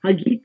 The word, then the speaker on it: Hagit: It's like a guitar, Hagit Canary.